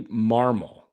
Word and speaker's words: Marmol: Yeah, it's Ollie Marmol. That's how you pronounce it.